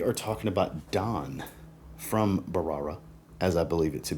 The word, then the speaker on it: Bharara: another fragrance from from barara I believe is how you say it I believe the H is silent I have hell pronouncing